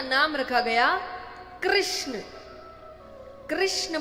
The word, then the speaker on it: कृष्ण: कृष्ण बोलने में जीभ घूमती है। बोलो घूमी जिसकी नई घूमी गलत बोल रहा है। सही उच्चारण करेंगे तो घूमेगी।